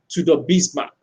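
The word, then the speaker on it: Tudor Bismark: youtube to the bismarck so the bismarck is spelled t-u-d-o-r that's two-door bismarck he's from to the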